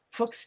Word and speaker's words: Fuchs: I have a genetic disease called Fuchs, I'm going to say it properly instead of the profane way, Fuchs dystrophy.